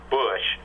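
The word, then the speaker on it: Busch: the other one is spelled b c but in Dickinson that's pronounced Bush uh the bush Apartments would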